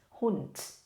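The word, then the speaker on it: Hund: ว่า น้อง หมา คะ หุ่น ออก เสียง ด้วย นะ คะ ทำ เหมือน ตัว s ค่ะ แต่ ทำ สั้น ๆ s มัน จะ ออก เสียง เป็น แบบ นี้ เนาะ นะ คะ แต่ ถ้า เอ่อ ลง ท้าย แบบ นี้ เรา จะ ทำ เป็น ตัว t นะ คะ นั่น ก็ คือ หุ่น นะ คะ โอเค น้อง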